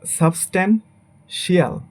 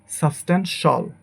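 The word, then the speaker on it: substantial: সাবস্ট্যান্সিয়াল, বাট এটা হবে actually সাবস্ট্যান্সল, সাবস্ট্যান্সল।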